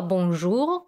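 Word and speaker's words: bonjour: из вас знает слова бомжу которая означает здравствуйте или добрый день произносить это слово нужно именно со звуком о боже а также в этом слове есть носовой звук ум вы можете добавить после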